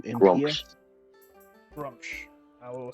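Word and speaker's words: Gruumsh: And the name of the deity, you say Grumps, Grumps. Grumsh. I will spell it Grump.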